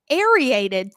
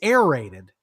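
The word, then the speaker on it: aerated: Um, you know, we don't want to get into the whole thing, but I think it started last Wednesday when the landscaper ariated through my Google fiber cable.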